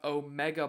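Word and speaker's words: O'Mega: Shout out Omega Blake. That is not Omega spelled like the Greek letter, but O''Mega.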